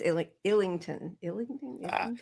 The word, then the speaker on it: Islington: I said Islington. It's Illington.